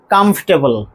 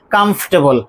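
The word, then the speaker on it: comfortable: সেটা কি সেটা হচ্ছে মাঝখানে যে অর এই দুটো লেটার আমরা বাদ দিয়ে দেবো। এবার তাহলে কারেক্ট প্রোনাজেশন কি পাচ্ছি? কমফর্টেবল। কমফর্টেবল।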